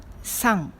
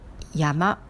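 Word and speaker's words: 山: Et on lit en deux façons. San, qui est la prononciation d'origine chinoise, c'est-à-dire onyomi, et yama est la prononciation d'origine japonaise qu'on appelle kunyomi.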